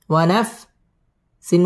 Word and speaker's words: ونفس: واو زبر و، نون فا زبر نف، ونف. سين واو دوي جير سيون، ونفسيون، ونفسيون.